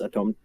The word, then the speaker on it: atome: So like the first one is pronounced atome, yes, all right.